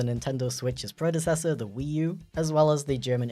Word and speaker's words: Ü: Technically, it's pronounced u, but definitely feel free to say you.